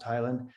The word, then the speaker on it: Heyland: highland is spelt heyland it looks h-e-y-l-a-n-d but pronounced highland there's also on there